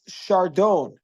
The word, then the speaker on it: chardon: So in French, it's pronounced chardon, meaning to say they don't pronounce the S, and they don't pronounce the The N.